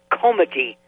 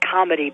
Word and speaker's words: comity: It was called comity, not comedy, but comity.